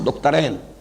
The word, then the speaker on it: دکترین: نام لوں گا، وہ دکترین ہیں، میں عربی تلفظ استعمال کر رہا ہوں، دکترین، دو ڈاکٹرز ہیں، لیکن یہ کہ وہ فکر جدید کے حوالے سے کرنے کا کام کیا ہے؟